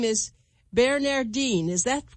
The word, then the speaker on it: Bearnairdine: Her name is Bearnairdine. Is that correctly pronounced, Bearnair? Approximately, yes. How should I say it? Bearnairdine. Bearnairdine.